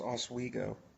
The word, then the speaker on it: Oswego: How's Oswego? Or Oswego? How do you pronounce it? Yeah, you got it right the first time.